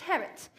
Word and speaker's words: Harriet: It's pronounced Harriet. The I is silent.